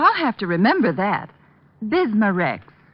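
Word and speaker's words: Bisma-Rex: have to remember that bismurex is that how you say it that's right ma'am b-i-s-m-a hyphen r-e-x bismurex ask for bismarcks at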